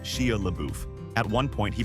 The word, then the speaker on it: Shia LaBeouf: It was supposed to be a one-liner, but Steve couldn't stop giggling every time he said Shia LaBeouf. At one point, he pronounced it Shia LaBeef, which set the entire cast off.